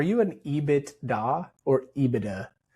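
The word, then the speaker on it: EBITDA: No, no, we don't spell it out. It's IBIDA or IBIDA.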